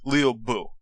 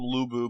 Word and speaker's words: Lü Bu: is that luo's name is actually pronounced somewhere close to Leo Buu L IU Buu but